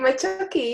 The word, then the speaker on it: Macciochi: Macciochi, and I think I've said your surname wrong. Have I said it Oh right? no, it's perfect, Macciochi.